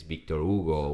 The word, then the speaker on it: Victor Hugo: I switch to Spanish Victor Hugo I used to call him Victor Hugo like American pronunciation but it's Victor Ugo which is the Portuguese oh Victor is resting